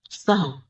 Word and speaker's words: سہو: سہو ہوتا ہے، سہو نہیں ہوتا. سب لوگ اپنا تلفظ بھی درست کر لیں. سہو جیسے لغو، ٹھیک ہے، کرم، نفس، سہو.